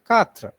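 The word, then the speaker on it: quatre: pronounced as k so number four is katra so remember the name katrina okay so you can remove ina and keep the rest katru number five is pronounced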